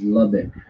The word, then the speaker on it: Lubbock: Chris, people in Texas pronounce it as Lubbock.